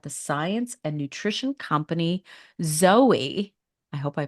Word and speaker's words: Zoe: nutritional research at the science and nutrition company Zoey I hope I pronounced it right it is Zoe I did